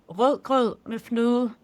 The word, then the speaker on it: rødgrød med fløde: So it's called rødgrød med fløde. Okay, I am terrible at pronunciation, so you're going to have to say that again.